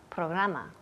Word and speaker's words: program: Programa. Program. Good. Program. Program. Yes. Program. Program. Y la última letra aquí es una M. Program. Los labios tocan.